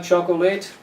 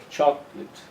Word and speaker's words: chocolate: never late for choco the first syllable is a strong one so the correct pronunciation is chocolate chocolate the late becomes lit okay so if you